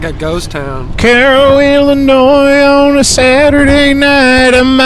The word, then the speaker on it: Cairo: There's a Cairo, Illinois, which is spelled like Cairo, but they call it Cairo because they hate the East.